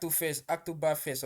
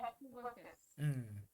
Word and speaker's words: Hacktoberfest: you were talking about the Acto Is it Octoberfest or something? I don't even know how to pronounce it. Yeah, Hacktoberfest.